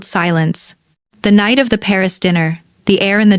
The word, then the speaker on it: Paris: "The emphasis is on the last syllable. Paris."